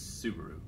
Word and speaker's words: Subaru: Sabaru, but she says Subaru. I have Subaru. I swore I heard like 2 or 3 different things from everyone. I'm like, Yeah, sure. What we at? What's Like this guy's name? it's spelled the same way as the car. Yeah. Like it's supposed to be pronounced like Subaru.